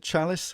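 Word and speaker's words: Challis: Is it Chalice, how you pronounce it? Yeah, that's correct.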